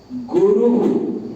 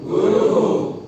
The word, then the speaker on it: गुरु: गुरु गुरु गुरु गुरु, गुरु ऐसे नहीं, गुरु नहीं होगा, गुरु गुरु। वो मुंह जो है ऊ की तरह ही खुला रह जाएगा बोलने के बाद, से गुरु, वो उसी उसमें वो निकलना चाहिए।